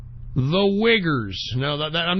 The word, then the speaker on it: Uyghurs: The Uyghurs. No, I'm not. That's how you pronounce it.